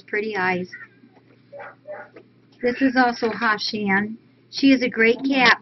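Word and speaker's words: Hachan: It's Hashan. Yeah, Hashan and Bella. And for our catatary, it's Hashan. It's spelled H-A-T-C-H-A-N.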